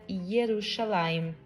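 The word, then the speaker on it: ירושלים: de Judá em cima escrito Jerusalém em hebraico que se pronuncia yerusalem e essa área até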